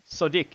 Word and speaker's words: Sodiq: That's how it's spelled. Terrible. SODIQ. Sadiq.